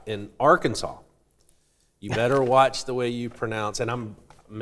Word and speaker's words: Arkansas: So apparently, it's intended to reflect it's a French pronunciation of a word from the Sioux language. So maybe I need Okay. But anyway, Arkansas.